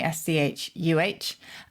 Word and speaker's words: Schuh: Shoe is a Germanic word, so it sounds very similar in German. It's spelt differently, S-C-H-U-H, and it is a Schuh in German, and that is exactly where we took it from.